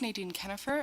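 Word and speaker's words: Nadine Kienhoefer: faucet and education committee members my name is Nan kennifer and for the record that is spelled n a d i NE kennifer is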